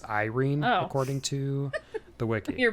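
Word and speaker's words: Yrene: Oh, I looked up how to spell her name or how to pronounce her name. By the way, it's Irene according to the wiki.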